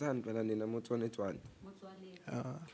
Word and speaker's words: Motsoaledi: South Africa's cannabis industry is preparing a legal action against the health minister Aaron Motsoaledi, Motsoaled, pronounce I. Pronounce Motsoaledi.